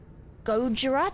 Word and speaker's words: Gojira: Gojira? Did I say it right? 100%. Jurgle. Jurgal? Actual question, chat. How do I pronounce that?